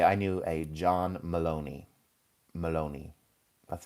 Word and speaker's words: Maloney: So I would say I knew a John Maloney. Maloney.